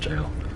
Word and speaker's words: gaol: what that is hypogeum gaol jail actually it's just pronounced jail alright yeah yeah I'm